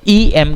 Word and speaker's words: M: जब आप एम ए भी बोलेंगे, एम ए, तो जब भी हम वर्ड एम बोलेंगे हम उसका जो प्रोनाउंसिएशन करेंगे वो ई एम करेंगे, एम. और इवन दो एम कॉन्सोनेंट है पर इसका प्रोनाउंसिएशन ई का है जो कि वॉवल है, तो इनका जो